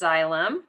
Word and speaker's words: xylem: have What's called the xylem so this is pronounced xylem and the xylem moves water and materials and